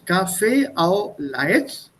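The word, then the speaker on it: café au lait: at this three words cafe au laits it's pronounced as one word and somebody was saying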